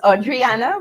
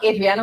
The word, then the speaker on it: Audriana: It's Audriana. But Adriana works.